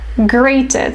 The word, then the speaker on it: grated: it's called great great grated so the pronunciation is the same as great like super but spelling is different